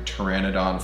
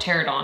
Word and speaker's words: Pteranodon: Jurassic Park and do Pteranodon Flyers here's some sad music also Pteranodon fires because I mispronounce it all the time and call it tear it on Fires Taylor Strickland this is